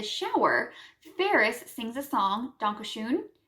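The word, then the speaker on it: Danke schön: ferris sings a song donkey shoon which in english is i think the singer mispronounces it donkey shane which would be like thank you kindly and he later sings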